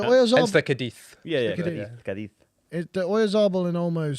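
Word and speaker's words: Cádiz: Yeah, Cadiz.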